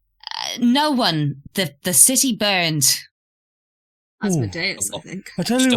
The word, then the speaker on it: Asmodeus: Asmodeus.